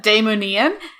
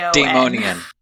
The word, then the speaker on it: Daimonion: out of my head, Daimonian, and that's Daimonion. Daimonian. Just completely fumbled that. Not Daimonian. Anyway. Yeah, not Daimonian.